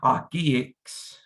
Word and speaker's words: Okii: You're not saying Okii, you're just meshing the E sounds together to just get Okii, Okii.